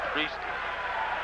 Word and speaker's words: Presley: Uh thank you by the way for this phonetic pronunciation is priestly.